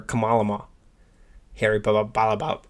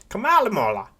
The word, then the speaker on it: Kamala: ever say her name I keep calling her Kamal Harry I just keep butching her name CA Kamala and Trump uh was it Swift use for